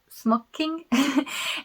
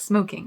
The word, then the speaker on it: smocking: lace which had some smocking and someone very kindly in the comments corrected my pronunciation, because I was saying it like smoking, like how you would smoke a cigarette. So it's smock.